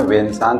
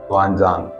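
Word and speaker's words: Xuanzang: अच्छा, हम लोगों को हिस्ट्री बुक में वेनसांग के नाम से पढ़ाते हैं। जो एक्चुअल स्पेलिंग है उसकी है एक्स से, XUAN, ज़ुआनज़ांग।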